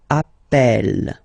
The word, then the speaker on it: appel: e e really open that's the reason why you pronounce it Appel Appel okay Appel Appel Appel and